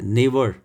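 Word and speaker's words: neighbour: उसके बाद है नेबर। नेबर में एन ई आई के बाद जी एच ये साइलेंट है।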